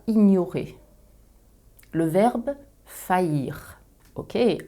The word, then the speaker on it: faillir: à ignorer le verbe faillir ok encore un mot prononcé yeux comme famille on l'a vu précédemment